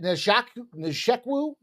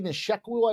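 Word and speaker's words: Nzechukwu: Uh so we've got this Kennedy uh is it Njac Neeku? Kennedy Nisheku I believe is how you say that.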